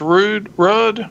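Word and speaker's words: Ruud: I think it's pronounced Rudd, R-U-U-D.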